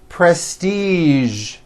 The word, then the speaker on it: prestige: Now, there are only a few words that have the voiced zh sound at the end. A few of these words are the color beige, the word massage, and the word prestige.